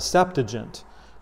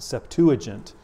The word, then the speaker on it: Septuagint: of the Old Testament, which is called the Septuagint, or some people pronounce it Septuagint.